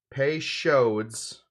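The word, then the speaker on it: Peychaud's: give this a stir pay shows is how Frank pronounced it if I remember correctly Frank said yeah Frank the car Cal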